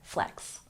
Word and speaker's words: flex: to show off or Flex with pronunciation we have the X sound making the ks say it with me Flex Flex number seven goat this is